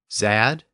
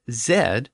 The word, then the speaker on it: Z: zad and isard but Zed eventually emerged as the official name of the letter in Britain when the British settled in America both Zed and Z were in common use Z was more common in the north and Zed was actually more common in the South but Noah Webster was